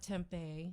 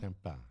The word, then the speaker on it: Tempa: it's not spelled like the food product. No, though. not tempeh. No, It's not Tempa. Tempa.